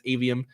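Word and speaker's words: Aveum: I wasn't sure exactly how to pronounce that at first. I think it's Avium.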